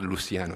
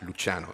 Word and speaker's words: Luciano: So if Lucky and Luciano, which is the right pronunciation, is not Luciano, it's Luciano in Italian, undergo acute coronary syndrome, they may have two clinical endpoints.